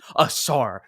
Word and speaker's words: Ausar: starting this video, the other Thompson twin, Mm, Ausar Thompson. You see, I got the pronunciation right, you Ethan.